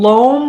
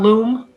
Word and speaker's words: loam: I believe you mean loam, like LOAM, not loom.